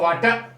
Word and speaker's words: water: देखिए WATER, तो वाटर, आर इसमें साइलेंट रहता है, वो मैंने आपको पहले रूल्स बता दिया है।